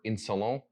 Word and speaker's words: Insolent: is vetiver insolent or better better in salon they're an english house so i'm just gonna go with the english pronunciation vetiver insulin it is one of